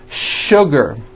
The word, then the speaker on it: sugar: not know is that there are some words in english that are written with the letter s but are pronounced with the sh sound words like sugar and sure and to